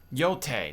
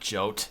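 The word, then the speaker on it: Jote: I know thank you yote not jot yote that's how you pronounce it I've administered my CBD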